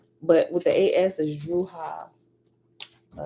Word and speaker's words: Drujas: And after Druha, it has a Druha is spelled Drujas.